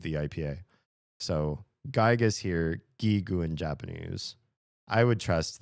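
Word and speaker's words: ギーグ: This this character is G and this character is G. So it's it's hard G's both gigu.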